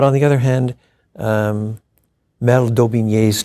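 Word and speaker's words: d'Aubigné: But on the other hand, Mel Daubigny's 2 volumes on the Reformation. You have to spell that for average people like me.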